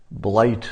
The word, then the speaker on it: Blight: Blight is spelled B as in boy, and then light. It's like be light.